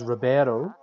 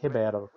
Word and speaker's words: Ribeiro: And what we would normally pronounce as Ribeiro in Spanish, in Portuguese is Ribeiro.